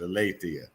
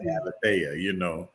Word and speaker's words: Alethea: But that's the proper way to pronounce it, Alethea. I used to call it Alethea, So tell us about Alethea Temple.